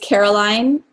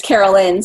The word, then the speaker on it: Caroline: One of my favorite morning ones is Caroline. It's Carolyn, so it's Carolyn.